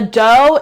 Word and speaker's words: Doux: The Dough is at Target. It's spelled DOUX.